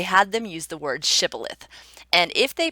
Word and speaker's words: shibboleth: and you notice that everyone who says shibboleth is kept alive, and those that say sibboleth are sent to death, why wouldn't you say shibboleth when you got up there?